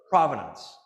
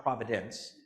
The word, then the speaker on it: provenance: Provenance, not providence.